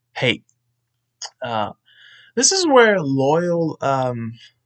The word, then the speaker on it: Loyle: it's pronounced I mean the way it's spelled but the way I'm pronouncing it it's like I'm saying loyal l-o-y-a-l like for all I know it could be pronounced a totally different way but loyal here lists all